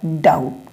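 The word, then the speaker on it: doubt: के बाद बी है तो अगर टी के पहले बी आता है तो बी साइलेंट बी को हम नहीं पढ़ेंगे क्या है डाउट मतलब संदेह कुछ संदेह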